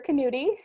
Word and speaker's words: Knudi: name is dr sarah knudi yes you pronounce the k and i am the